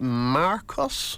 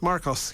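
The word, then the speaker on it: Mrkos: or k o s there's a vowel missing how are you supposed to pronounce that m or k Marcos Marcos yeah that's good okay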